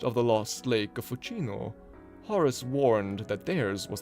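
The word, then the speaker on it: Fucino: Lake of fuino and I really can't imagine this Lake being pronounced fukino it's almost definitely fuino hence the tongue being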